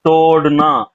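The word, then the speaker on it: तोड़ना: First நீங்க சொன்னீங்க பாத்தீங்களா ரூட் வெர்பு, அதுல மட்டும் சின்ன ப்ரொனன்சியேஷன் கரெக்ஷன் இருக்கு. அது வந்து தோடுனா. தோடுனா. ரைட் தோடுனா லேடிஸ் காதுல போடுவாங்க பாத்தீங்களா தோடு, ரைட் ரைட்.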